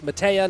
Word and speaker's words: Mateja: stopping everything and yes matea not mateo i'm so used to saying the pronouncing the j is an h so apologies on this on the mispronunciation there hogs earthquake to